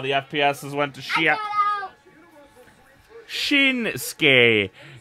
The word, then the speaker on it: Shinsuke: Shinsuke. The U is silent.